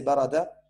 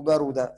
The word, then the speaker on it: barada: En arabe, on peut prononcer soit au passé barada ou barouda. Les deux existent.